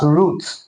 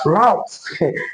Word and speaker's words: route: The first one is the British and the second one is the American pronunciation. Now the British pronounce this word as root.